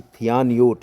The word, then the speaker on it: थियानोट: हो गई हैं कि थियानोट यानी जिस जो इसका नाम है जो इसे थाईलैंड ने दिया है थयान इंग्लिश में अगर देखें तो इस तरह से है यह नाम की स्पेलिंग है थियानयोट और यह जो नाम दिया गया है थाईलैंड की तरफ से दिया गया है तो यह तूफान थियानोट बनने वाला है इसकी संभावनाएं प्रबल हो गई हैं।